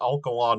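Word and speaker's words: Alcalá: you know uh also that alkala near madrid has a uh stress on the last syllable which wasn't indicated there um you know that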